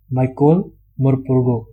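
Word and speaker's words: Michael Morpurgo: Author जिनका नाम है माइकोल मोरपुर्गो। इसको ना अपने को अच्छे से प्रोनाउंस करना भी सीखना है। माइकोल ये ओल है, माइकोल मोरपुर्गो।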